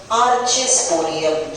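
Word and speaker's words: archesporium: फिर bilobed anther में ये जो 4 डॉट्स बताए हैं, ये सेल का नाम है आर्चेस्पोरियम. क्या ये स्पेलिंग पढ़ पा रहे हो आप? आर्चेस्पोरियम, ARCHE, आर्चे, SPORIUM, आर्चेस्पोरियम सेल.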